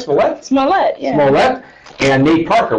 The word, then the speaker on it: Smollett: Smollett, yeah.